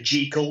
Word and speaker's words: Jekyll: And I will say Jekyll, because the correct pronunciation is Jekyll.